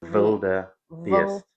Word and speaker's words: wildebeest: If you took it right to English, it would be wild beast. But nobody calls it a wild beast. That sounds very strange. Wildebeest. Wildebeest. Yes. This is the correct pronunciation.